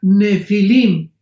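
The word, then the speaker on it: Nephilim: La palabra gigantes es la palabra nepilim n de Nancy y pH intermedia. Nepilim se pronuncia nefilim en el original hebreo.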